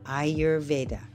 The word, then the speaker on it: Ayurveda: ayurveda the first step is how to pronounce it the way I teach it is you say ey e i y o u r your vaa I your vaa in the aaic science the fundamental elements of